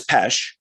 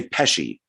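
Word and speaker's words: Pesce: pesci or nicholas um pesh so um he says pesh but some people on there did say pesci kind of like joe pesci i guess but um so he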